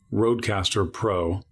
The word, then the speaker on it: RodeCASTER Pro: I always get the name wrong because I just want to say podcaster. RodeCASTER Pro.